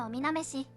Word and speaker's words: 女郎花: と書いておみなめしという演目があります。